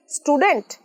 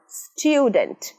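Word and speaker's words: student: স্টুডেন্ট না, স্টুডেন্ট। স্টুডেন্ট। Native স্পিকারদের মতো, বিদেশিদের মতো স্মার্ট ইংরাজি বলতে গেলে শিখতেই হবে সঠিক উচ্চারণ।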